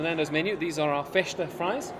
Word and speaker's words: festa: These are our festa fries. The S is pronounced sh, like all things in Portugal.